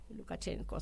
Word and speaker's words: Lukashenko: Lukashenko, sí, espero estar pronunciándolo bien porque cuesta.